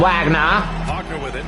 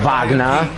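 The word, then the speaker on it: Wagner: You fucking fouled him, Wagna. Oh, Vagna, I'm sorry.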